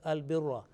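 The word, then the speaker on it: البرّ: And the third word is Al-Birra. Ra with Fatha but with Tashdid.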